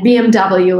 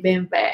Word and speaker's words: BMW: And BMW, like in Russia we say BMW, and in Germany, where the car is made, they say BMW. And in America it's BMW.